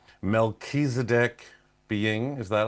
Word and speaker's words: Melchizedek: Mechisedc being is that how you pronounce it?